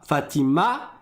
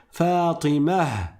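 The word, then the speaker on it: فاطمة: Mais que normalement quand on s'arrête dessus, on le transforme en ha et ça fait pas Fatima mais ça fait il y a le ha qui sort à la fin. Fatimah pareil pour le prénom de Donc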